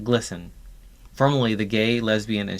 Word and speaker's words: GLSEN: Think of all these groups as satellites of a mothership called GLSEN, pronounced GLISTEN, formerly the Gay, Lesbian, and Straight Education Network.